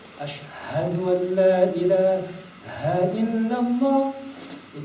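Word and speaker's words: أشهد: But now, if he doesn't pronounce it right, and he says, Ashadu, he doesn't make the ha.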